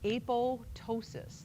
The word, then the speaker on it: apoptosis: so we call that a pole ptosis the P is silent so what's a pole